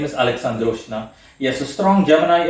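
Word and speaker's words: Alecandrosjna: him his name is alexandroshna I repeat alexandroshna it sounds Russian it's spelled a-l-e-c-a-n-d-r-o-s-j-n-a the C essentially is pronounced as a as a an SK not sorry a KS so Alex essentially like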